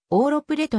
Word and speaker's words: Ouro Preto: されている実際の発音は往路プレートに近い 1980 年街並みに